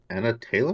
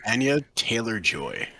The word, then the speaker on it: Anya Taylor-Joy: Anna Taylor?